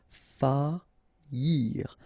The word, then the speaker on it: faillir: Faillir. Faillir. Okay, so you don't pronounce this I here, okay? Faillir.